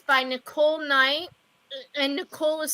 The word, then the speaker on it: Knight: and it's by Nicole Knight and Nicole is spelled n i k o l e n as in like k n i you know like like night and shining armor oh